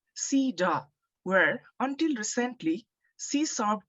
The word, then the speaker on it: CEDAW: of Discrimination Against Women, otherwise known as CEDAW, pronounced CEDAW, where, until recently, she served 2 consecutive terms as vice chair.